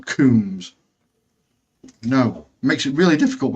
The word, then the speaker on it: Combs: and KS yeah ag even though his name is spelled Combs but insists on calling himself kums no makes it really